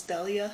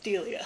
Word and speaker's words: Delia: like the little videos to see if it's pronounced correctly because i thought it was dahlia i was like that sounds really wrong i was like maybe it's delia i was like that also sounds wrong it's delia so i believe it's delia green and she